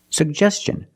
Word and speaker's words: suggestion: like juice and jump pronounce both sugest suggest and T N the T makes the CH sound so together sugestion suggestion put the stress on the second syllable he made a suggestion